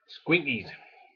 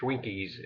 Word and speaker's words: Squinkies: Squinkies, not Schwinkies as I kept pronouncing it.